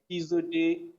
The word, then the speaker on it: Ehiz: a lot hello happen um my name is pronounced izu di yourself to not be deceived by all the